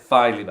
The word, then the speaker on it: Filey Bay: So that's how you say it, Filey Bay.